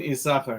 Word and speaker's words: Issachar: but connected to this why is the shin silent in isaac there's an extra that's not pronounced so again they made